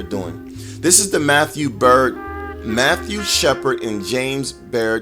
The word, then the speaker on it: Byrd: Shepard and James Bird bird that is even those Byrd is actually pronounced bird as in fly away because one is bird